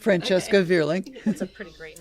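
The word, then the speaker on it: Francesca Vierling: Am I pronouncing that? Yes, correct? Francesca Verling.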